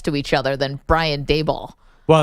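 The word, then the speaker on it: Daboll: like a decade and nobody knows how to pronounce his name. I say Dable. Some people say Doul. I don't even know how other people say it. It's pronounced Dable, but yet you go down the hallway at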